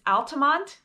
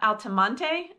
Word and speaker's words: Altamonte: So, let's kick it off with Altamonte Springs. First of all, if you want to sound like a local, it's Altamonte and not Altamonte. I don't know why, but that's just the way it's pronounced.